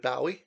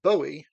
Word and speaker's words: Bowie: and at that time we called him David Bowe and we called the album Changers Bowie and so did every radio DJ I heard playing him through the '90s when I was growing up in New Zealand in fact the first time I heard someone refer to him as is Bowie I was like that's wrong but of course it isn't those were the inocent pre